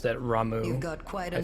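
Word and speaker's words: Ramuh: Quetzalcoatl beats out Ramu. Gonna get Quetzalcoatl in Final Fantasy 14 any day now, right? Y'all have convinced me to pronounce that Ramu.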